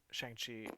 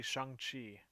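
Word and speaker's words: Shang-Chi: or they go after shangi sh oh yeah right I've been saying it wrong it's actually Shan Chi oh man just going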